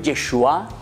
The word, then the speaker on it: Yeshua: ¿Qué quiere decir Yeshua?